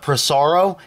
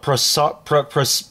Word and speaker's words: Pisarcik: on the East Coast we call it Pisarcik, and on the West Coast you guys call it Pisarcik. It's actually in a forum I actually read that we actually call it two different, they're pronounced it two different ways on the East Coast and West Coast.